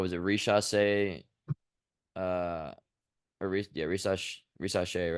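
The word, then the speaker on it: Risacher: Rishasse, uh, yeah, Rishasse, right? That's how you say it.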